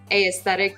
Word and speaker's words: aesthetic: you're like 24 and realize that like aesthetic does not have 2 syllables at the beginning.